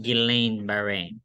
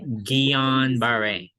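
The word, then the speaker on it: Guillain-Barré: I repeat it cannot occur on its own let's start with the pronunciation it's Geon okay it's not Guillain Bahrain it's Gian Beret so it always sounds better in French like manage so the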